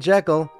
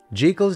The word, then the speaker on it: Jekyll: You know you think that I'm supposed to be saying Jekyll, don't you? Trust me, I looked into it. It ain't Jekyll, it's Jekyll. Well, at least that's how all the snooty people pronounced her name, so I'm going to pronounce it that way too.